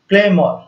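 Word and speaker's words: clamour: Don't क्लेम for more, वैसे तो इसका साउंड आएगा, इसका प्रोनाउंसिएशन होगा क्लेमर, ठीक है, लेकिन यहां पर आ रहा है मोर, तो हम इसको क्लेमोर बोल सकते हैं समझने के लिए।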